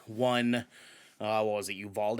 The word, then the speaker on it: Uvalde: uh what was it uvalde is how you pronounce it you've all evolved you